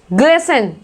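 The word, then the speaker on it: glisten: Next देखो, ग्लिसन, ग्लिसन, यहाँ पे टी साइलेंट है, इसको हम बोल रहे हैं ग्लिसन।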